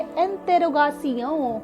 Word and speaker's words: interrogation: Start करते हैं आज का टॉपिक, और आज है इंटेरोगेशन, जिसे फ्रेंच में हम क्या बोलेंगे, स्पेलिंग रिमेन सेम, और इसे बोलेंगे इंटेरोगासियों।